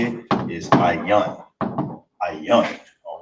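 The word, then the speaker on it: ayin: Is ayan. That's how you say that, ayan.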